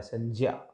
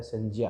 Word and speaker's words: संज्ञा: क्योंकि अधिकतर हम संज्ञा ज्ञ बोलते हैं, इसको ज्ञ नहीं होता है, ये ज्य होता है, संज्ञा। क्योंकि इसका ज और य मिला हुआ होता है, संज्ञा। इसका प्रोनाउंसिएशन इस तरह से होता है, आप ये ध्यान रखें।